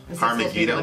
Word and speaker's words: Har Megiddo: well yeah well I mean the title gigolos har Megiddo har Megiddo come again yeah that's how you say it